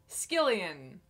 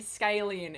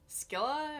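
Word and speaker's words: Skyllian: that but also skillion didn't think to pronounce it that way I was pronouncing it skyen in my head the entire time I might have even said scallion apparently I was wrong I guess it's more like a skilla or Shilla that that one Greek monster that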